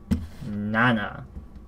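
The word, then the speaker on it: 七: How do you pronounce this? Hope everyone remembers what this character is. Nana.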